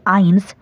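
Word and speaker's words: eins: মানে বলা হয় নূল ওয়ান কে বলা হয় আইন্স টু কে বলা হয় সোয়াই থ্রি কে বলা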